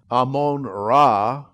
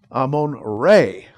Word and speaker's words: Amon-Re: The sun in ancient Egyptian religion was Amon-Ra, or actually the correct pronunciation is Amon-Re. R-A is pronounced Re in Egyptian.